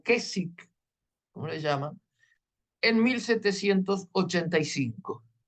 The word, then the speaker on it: Keswick: las conferencias de questwood keswick o que si la pronunciación es que sí porque no la W ahí no se no se pronuncia Qué es o kesi cómo le llaman en